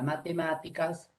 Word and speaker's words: matemáticas: Todos se dan cuenta que la sílaba tónica de la palabra matemáticas es la sílaba ma, sílaba tónica.